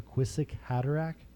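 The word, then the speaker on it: Kwisatz Haderach: movie which is called the quizzic hattarack various pronunciations depending on your region but that's how i say it and he's essentially can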